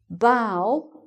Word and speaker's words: bough: And finally: "bough" and "plough" is the "ow" kind of sound, "ow".